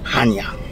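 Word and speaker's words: Chania: very pretty all right let's go to Hanya that's how you pronounce it how do you pronounce it Hanya sorry no it's just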